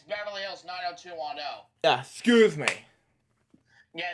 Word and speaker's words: Beverly Hills 90210: Oh man, Beverly Hills 90 to 10. Yeah, which I didn't pronounce. It's actually it's Beverly Hills 90210.